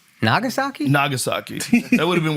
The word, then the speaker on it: Nagasaki: Where's Namasaki? Nagasaki. Nagasaki. That would have been way better if I got the name wrong.